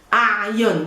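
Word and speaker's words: أعين: A'yun, difficult to pronounce, you have to try to work on your ayn.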